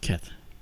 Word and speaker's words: Kate: always butcher her name we say Kate because it's spelled that way but it's pronounced kit yeah all right I'll